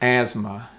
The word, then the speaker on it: asthma: it's asthma so the t in this word is really silent it's almost like asma asthma it's not asthma asthma or asthma no it's asthma asthma so repeat that